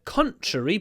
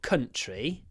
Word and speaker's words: contrary: She puts forward a contrary point of view. Not country.